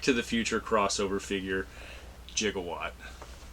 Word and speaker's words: Gigawatt: It's the Transformers Back to the Future crossover figure, Gigawatt. Spelled and pronounced properly, Gigawatt, but we all know Doc said Gigawatt.